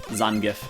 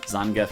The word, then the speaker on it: Zangief: Zangief. Zangief? Zangief is the correct way.